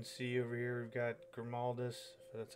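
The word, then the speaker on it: Grimaldus: as you can see over here we've got grimaldis that's how you say his name along with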